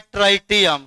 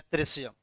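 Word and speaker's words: tritium: क्या होता है, ऐसे कितना आदमी पढ़ता है ट्राइटियम, क्या पढ़ता है, लेकिन इसका सही उच्चारण क्या होता है, ट्रिशियम।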